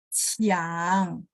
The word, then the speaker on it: Qiang: Kalau Q itu CH. Tadi kan saya sempat bahas ya, Q itu bacanya CH.